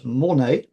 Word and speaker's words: Mornex: Now, a little further north of Chamonix, um is this place Mornex. Um I believe that's how it's pronounced. Um they don't pronounce pronounce the X.